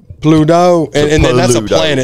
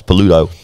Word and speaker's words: Pluto: welcome to the time I like how you made a two-syllable word a three-syllable word Pluto that's not a Time Warner it's like a dog from Mickey Mouse paluto Pluto shot Pluto from